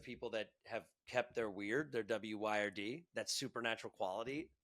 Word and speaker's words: wyrd: It's actually the original word, which is spelled kind of funky. That's why I don't always share it, but it's WYRD.